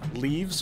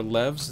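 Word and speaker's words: leves: So daily quests are called leaves or levs. It's spelled L-E-V-E-S.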